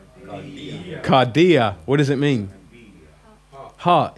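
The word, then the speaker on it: καρδία: one okay now do it with the accent kardia what does it mean heart yeah cardiovascular and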